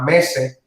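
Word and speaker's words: meze: Allá en Líbano es muy normal tener platos al centro que se le llama mese. El mese, que se escribe M-E-Z-E, es al término que se le da a la palabra en árabe que significa tapas.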